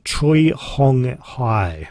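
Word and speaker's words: Choi Hong Hi: And the guy that is responsible for that, his name, and I'm going to pronounce this correctly, is Troy Hong Hai.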